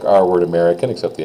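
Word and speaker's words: américain: I guess but um you have here americ again you don't say the N American you do say the N okay americ American now that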